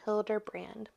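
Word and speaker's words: Hilderbrand: say her name Ellen Hilder B no Ellen Hilder brand this is becoming a Tipsy book call Ellen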